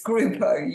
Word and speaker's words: Gruppo: on my SOA is it groupa have I pronounced your surname correctly I don't mind how you pronounce it it's groupo you pronounced it perfectly absolutely perfectly you did